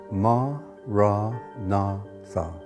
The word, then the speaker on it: Maranatha: choose that word say it has four syllables ma rah na thum listen to the word